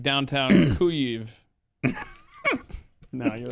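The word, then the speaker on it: Kyiv: too late you know it's too late in the game to be changing from kiev to ku eve no zelinski did that video with his cabinet they were in like downtown cuive no you're right it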